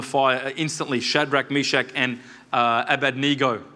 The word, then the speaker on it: Abednego: another in the fire instantly Shadrach Meshach and Abednego not a bendigo us white people have been saying it wrong or you white people have been saying it wrong for a very long time it's arbutny go all right everyone say how about Neagle actually